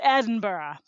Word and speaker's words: Edinburgh: the beautiful Edinburgh it is not like Pittsburgh it's Edinburgh oh Terry Terry like kookaburra yeah okay okay okay just